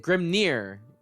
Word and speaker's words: Grimnir: Yeah, they pronounce it Grimnir.